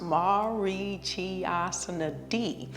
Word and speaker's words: Marichyasana: It's pronounced Marichyasana D.